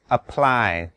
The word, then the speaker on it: apply: คำว่า apply มีสองพยางค์นะครับพยางค์แรกออกเบาๆแล้วพยางค์ที่สองออกเสียงดังกว่าเช่น apply ม่ใช่ apply นะครับเป็น apply เช่น apply the cream apply the ointment apply the eye drops Anything else I should know?